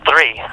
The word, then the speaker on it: III: new album is it is it three is that how you say it or yeah three I know people are like is it I I I and I'm like come on guys Roman numerals Let's Do It um